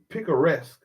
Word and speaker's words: picaresque: all those slave narratives share some features of picaresque satires let's see what that word is let's